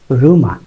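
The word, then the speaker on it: rumour: হিউমার রিউমারের মধ্যে একটু difference আছে। হিউমারের উচ্চারণ হিউমার ঠিক আছে, কিন্তু রিউমারের উচ্চারণ রিউমার না, এটা রুমা।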